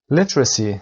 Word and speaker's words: literacy: literacy تلفظ، استرس در اول، literacy و پشت هم سری literacy. The state of being able to read and write.